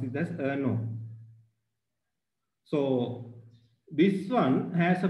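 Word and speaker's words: errno: So that that header file is so simply you can pronounce it as ano.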